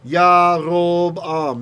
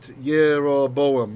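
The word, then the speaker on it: ירבעם: Yarob-am, not Yeroboam.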